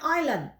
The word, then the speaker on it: island: Tulisannya Island ya, bacanya island.